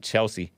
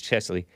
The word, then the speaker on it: Cheslie: Yeah, I did talk about her yesterday too because I mispronounced it Chelsea, but it's CHESLIE.